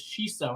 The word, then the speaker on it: Xixo: facts about it then the brand name is actually pronounced like my name uh-huh but it's not